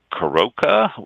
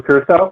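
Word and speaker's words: curaçao: and we had an excess amount of blue corroca is it pronounced i can't remember blue curacao yeah yeah blueprint we had an excess amount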